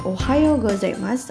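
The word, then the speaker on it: おはようございます: yang digunakan untuk pengucapan ohayou gozaimasu atau Ohio itu dari 05.00 sampai 11.00 pengucapan How menjadi Bunyi panjang ko-a yo Minna San coba kita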